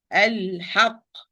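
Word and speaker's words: الحق: If I stop here, I have a letter with shadda. I have to apply nabr or stress. وَقُولِ الْحَقِّ وَقُولِ الْحَقِّ الْحَقِّ, like push in sound when before the starting of pronunciation of the qaf. Al-haq. This is the nabr.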